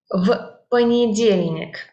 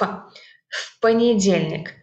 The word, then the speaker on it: в понедельник: В понедельник. But we actually pronounce it like one word, and this в is pronounced like ф. В понедельник.